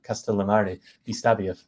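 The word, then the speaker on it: Castellammare di Stabia: for me like as a native English speaker castal Mari dbia if I'm saying it correctly please Perfect yeah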